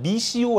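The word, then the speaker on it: missio: 단어 보낸다 라는 단어는 라틴어로 뭐라고 말 하냐며 는 미시 오 라고 읽어야 미시 오 어떤 단어가 떠올려 영어로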